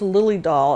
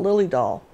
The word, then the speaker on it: Dahl: Her name was Lily Dahl, and it's spelled D-A-H-L, Lily Dahl.